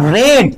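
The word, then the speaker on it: read: কথা আমি তোমাকে কিন্তু বলবো এবার দেখো ইউ রেড এটা উচ্চারণ কিন্তু ডিড হবে না তিন নম্বর ফর্ম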